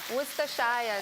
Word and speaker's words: Worcestershire: Do you know how to pronounce this? Worcester. Worcester sauce. Who is it? It's Worcester. Worcestershire, Jermaine.